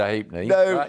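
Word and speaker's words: Halfpenny: I can't stop myself saying hate me, but she No, I young producer said, "How do you pronounce it? Is it Hate Me?" anymore. Nobody knows what you mean if he's a hapney.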